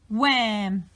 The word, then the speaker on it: wham: And now remember, we don't need to pronounce the H because it's working with the W. So we're going to say w-am, wham.